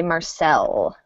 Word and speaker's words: Marcel: long sentence oh also i'll note this name we pronounce as if it is French so we say Marcel so different irregular pronunciation alright so this sentence